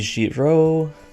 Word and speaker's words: Giraud: The D is silent because French pronunciation rules, which is most likely, considering what Kaga is prone to reference, in reference to a man by the name of Henri Giraud.